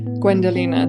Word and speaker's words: Gwendolena: Gwendolena, that's perfect, yes.